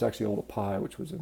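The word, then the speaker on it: Oldupai: a lot of people call it sort of Olduvai but it's actually all the pie which was a mispronunciation of the way it's written you know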